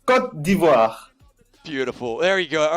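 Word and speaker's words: Côte d'Ivoire: now you've heard us you've heard us unfortunately saying iory coast and not using the correct pronunciation at all could you for the viewers at home give us the beautiful correct pronunciation the the the good pronunciation is C div beautiful there you go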